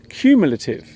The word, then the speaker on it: cumulative: The word is cumulative. The first syllable of this word sounds like the letter Q.